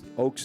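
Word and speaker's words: Ochs: Oakes is spelled O-C-H-S.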